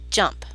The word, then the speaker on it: JMP: using in this course it's spelled JMP but is actually pronounced jump so when you click